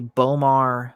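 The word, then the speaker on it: B'omarr: correctly this is actually what is called a bomar monk look that up i believe it's spelled b apostrophe o-m-a-r-r monk and they are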